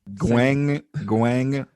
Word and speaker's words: Guangdong: Guangdong. Okay. That second G is with the first syllable.